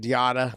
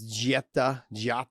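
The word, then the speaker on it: Diatta: I say it Diata, but it's not. I know it's not that. It's Giata.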